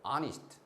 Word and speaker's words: honest: 근데 이거는 묵음이죠. 소리가 안 나죠. 그죠? Our, honest, air 이런 식입니다.